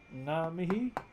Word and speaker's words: ngā mihi: Ngā mihi, some might say ngā mihi, no G. My tribe doesn't pronounce the G in our language.